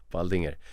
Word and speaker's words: Baldinger: Yeah, that's uh my my name actually, Baldinger. Um, maybe that's hard to pronounce, but Bald as Bald if you're English and Inger like uh the name Baldinger.